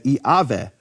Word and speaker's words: Yahweh: But Yahweh actually would be pronounced in certain periods of history of Greek as Iaveh.